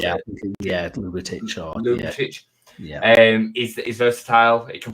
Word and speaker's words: Ljubicic: The great thing with Ljubicic, is that how you pronounce it? Yeah, Ljubicic.